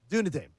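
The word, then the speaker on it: Duneadaim: How would you say uh, d u n e a d a i m? Dune a Dame? Dune a Dame.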